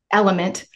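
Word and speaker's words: LMNT: And then I'll take the Elementes, citrus element. I know, L-M-N-T. I spell it out, okay?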